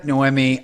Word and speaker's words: Noemi: It is Noemi. So pronounced Noemi.